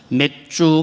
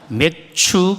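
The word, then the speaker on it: 맥추: 정확하게 잘 해야 됩니다 맥주 감사주일이 아니고 매추 감사주일입니다 중학생 고등학생들에게 확실하게 강조해서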